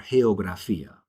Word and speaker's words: geografía: It's almost like the H in the word hut. All right? Girasol or geografía. So gato, gol, guante, but girasol, geografía. So that's why those special notes are there. It changes the pronunciation just a little bit.